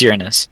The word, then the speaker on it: Uranus: It's Uranus.